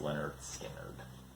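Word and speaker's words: Lynyrd Skynyrd: It's pronounced Leonard Skinner.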